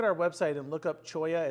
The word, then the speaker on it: cholla: website and look up choya it's spelled c h l l a it looks like Chola that's a different thing um choya is a really cool